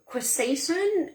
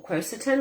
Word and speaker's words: quercetin: things like that so quesacin um or quercetin like depending on how you pronounce it which you find